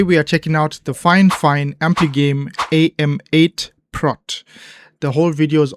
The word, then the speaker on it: FIFINE: In case you're confused, yes, it is pronounced FIFINE, very often mispronounced as FIFINE, but I did check with them and they mentioned that the correct pronunciation is FIFINE.